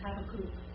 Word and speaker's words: Habakkuk: it was interesting because she said, we say Habakkuk, or however you want to say it. They think we're pretty funny by saying it that way, because it's Habakkuk.